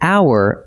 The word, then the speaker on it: hour: We write it with an H, but the H is silent, so hour opens with a vowel sound. That is why we say an hour and never a hour.